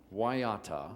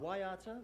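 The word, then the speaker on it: Waiata: how do we pronounce this word this is pronounced W waata waata which is a Mari word the Mari people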